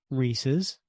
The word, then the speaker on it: Reese's: rxes Reese's not Reese's a good pneumonic is to remember that it rhymes with pieces because you know Reese's Pieces not Reese's pces rhymes with pieces not